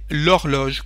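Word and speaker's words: l'horloge: palabra que empieza con una H muda como horloge que es feminina la traducción de el reloj el reloj de pared se dice lorl como si no había consonante pero cuando se trata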